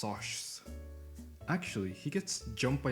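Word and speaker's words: Socs: In the first couple pages of the book, Pony introduces the rivalry between the middle-class greasers and the Westsiders Sox, pronounced Soshs.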